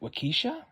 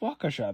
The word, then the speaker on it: Waukesha: That's how they used to pronounce it. Waukesha? Now it's pronounced Waukesha. They finally figured it out.